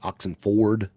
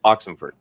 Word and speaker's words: Oxenford: I'm like Oxenford. When it's more like Oxenford. No, there's no Ferd in there. There's no E. It's O like the freaking truck.